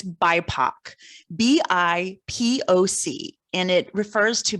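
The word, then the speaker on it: BIPOC: and i hope i hope i'm going to pronounce the acronym right but it's bipac b-i-p-o-c and it refers to black and indi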